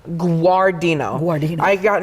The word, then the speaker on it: Guardino: had actually some tea you say aw like a little bit of a w but it's a you got it guar Deena who are Dean I